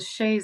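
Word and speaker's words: chaise: that is interesting because I think it's spelled c h a i s e yeah it's a sha Lounge Oh sha okay interesting or you cany it and call it a Chase loung oh that's hilarious You're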